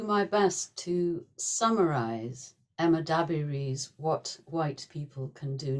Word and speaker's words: Dabiri: little bit about Emma dabiri herself you say her name exactly as Adrian said the emphasis is on the first then I'm going